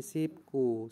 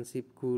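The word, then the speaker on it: 십구: berhenti dari sipku Nah di sini ee berlaku hukum bacaan ya karena biap bertemu k atau eh bertemu g b bertemu G nah ini dibacanya konsonan berikutnya adalah ganda ya menjadi sipku seperti itu bukan sipgu lagi menjadi sipku nah ini hukum bacaan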